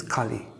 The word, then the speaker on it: Kali: And the age that we are in is Kali Yuga. It's a short A.